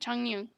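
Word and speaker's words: Chongyun: Chong Yu? Yeah, that's how you say it. Changyu.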